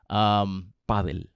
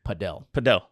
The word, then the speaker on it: padel: They say paddle. Paddle. Is that the Spanish speaking countries, they all play paddle. You're like, oh, you play pickleball? No. I play paddle. And then the Americans say padel.